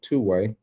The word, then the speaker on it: 2WaI: So uh want to address uh this new app that I saw is called two-way. That's how it's pronounced.